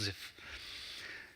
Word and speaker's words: Zipf: The P is silent, it's just Zipf.